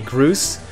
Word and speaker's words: Groose: She made a Groose or Grouse, depending on how you want to pronounce it.